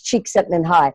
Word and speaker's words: Csikszentmihalyi: in a link is it just looks like something that you couldn't pronounce but it's cheeks have been high and he talks about